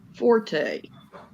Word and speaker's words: forte: So one of them had a good point that it's pronounced fort, and the other had